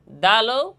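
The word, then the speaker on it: دال: দেখেন তা যেমন বলছিলাম দালও ওইভাবেই উচ্চারণ হবে। জিহ্বার আগা সামনের উপরের দুই দাঁতের গোড়া এবং সামান্য তালুর সঙ্গে লাগাইয়া দাল।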